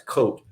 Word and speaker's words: Koht: It's spelled Koht, and most people look at it and say, oh, that's Koht. But it's actually pronounced Koht.